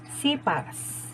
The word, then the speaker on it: sepals: flowers grows number three sepals pronounced as sipas in closes and protects